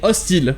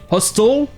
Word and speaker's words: hostel: Mais le mot hostel se prononce exactement comme l'adjectif hostile, qui veut dire hostile, un endroit ou une personne dangereuse qui vous veut du mal.